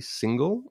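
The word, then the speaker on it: Singal: deep deeply respect um his name is jesse single his last name is spelled s-i-n-g-a-l he's released a book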